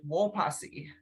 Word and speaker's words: Wopasi: this word right, but Wopasi, is that how it's pronounced, Nicole? - A little bit more like Wopassi. - Wopassi. - I'm not Dakota either, but I think it's a little bit more like that, yeah.